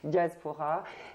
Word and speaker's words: Djazpora: Diaspora. Et donc vous êtes Jazz comme Jazaïr. Exactement. Jazz comme Jazaïr. Et Pora, c'est la moitié de Diaspora.